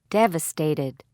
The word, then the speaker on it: devastated: Stress on first syllable. Devastated.